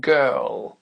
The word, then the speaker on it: girl: appris tout à l'heure ça commence par le son g et là on s'aperçoit que ça va donner girl girl donc ici on a le